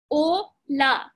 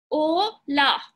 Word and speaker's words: hola: And H is silent. So you say O and then LA would be la. O, la.